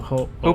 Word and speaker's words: Ho-Oh: Ho-Ho, Ho-Oh. Pokemon, Hopo, No, Ho-Oh. Hopa. How do you spell that?